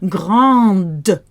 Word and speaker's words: grande: But the feminine version has an E afterwards. So now we have to spit out that D. Grande.